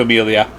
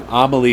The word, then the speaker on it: Amelie: let's go over to amelia here she is amelie sorry amelie amelie is how it's pronounced um honestly this card